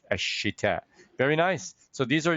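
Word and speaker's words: الشتاء: Ashita. Ashita. Jamil jiddan. Notice Shin is a sun letter, so ideally you don't pronounce the lam, right? Because it's Ashita.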